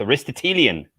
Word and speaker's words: Aristotelian: address aristotle aristotle into an adjective so it's aristotelian aristotelian see i've never had to make aristotle